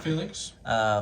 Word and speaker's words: Phalanx: So Josh did play Unwavering Phalanx. Did I pronounce that right? Yep, Phalanx.